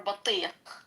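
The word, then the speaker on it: بطيخ: it's batija or batiq. You're not saying it correctly. Batiq. Bateekh. Thank you.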